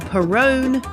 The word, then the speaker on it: Perrone: I'm your host, Perrone. It rhymes with Stallone.